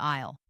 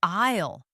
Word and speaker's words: aisle: She turned to the employee and said, "He means the pasta aisle. I pronouncing it clearly with a silent s." Suddenly, the employees face lit up with understanding. Oh, the aisle.